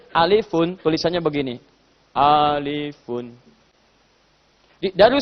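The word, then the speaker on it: ألفٌ: Tapi Nabi tidak pernah mengatakan rumus alif. Yang Nabi katakan alifun. Alifun, tulisannya begini. Alifun.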